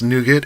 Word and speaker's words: Liuget: Yeah, How do you spell his Boy Scout says it's pronounced nougat and it's delish, and Palmer says it better not be more.